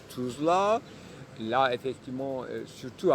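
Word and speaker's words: Tousla: Ici, c'est Tuzla, mais ça s'écrit pas comme dans une alphabétique avec les lettres latines, donc laïques, mais ça s'écrit avec orthographe français pour qu'on prononce depuis toujours Tuzla.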